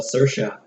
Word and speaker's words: Saoirse: last name but her first name is all Saoirse and she played the love interest from grand